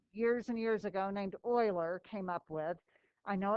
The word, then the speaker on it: Euler: a famous mathematician years and years ago named euler came up with i know it looks like euler but it's pronounced euler just that i means the square root of